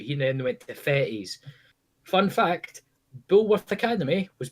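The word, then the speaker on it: Fettes: He then went to Fetties. Fun fact: Bulworth Academy was based on Fetties. It was genuinely, like, if you're ever in Edinburgh, go and look at Fetties High School, and you'll look and go, "Fuck, it is Bulworth."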